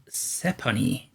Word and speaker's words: Sephonie: Today we're having a look at Sephonie, I think it's pronounced. It's like Stephanie, but without the T.